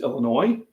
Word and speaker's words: Illinois: sponsors so in UA Illinois if you it's Illinois all right you don't pronounce the yes it's a French thing go